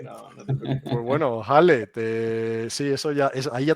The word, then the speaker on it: Khaled: Se nos han unido aquí Alfonso y Khaled. ¿Lo he pronunciado bien? No. Alfonso, me equivoco en Alfonso, seguro. En mi caso es. Khalid. No, Jale, como si fuese una J.